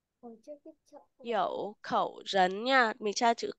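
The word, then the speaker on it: 口: là khẩu đọc là khẩu này đúng không từ Hán Việt của nó là khẩu và nó nghĩa là cái miệng đúng không hoặc là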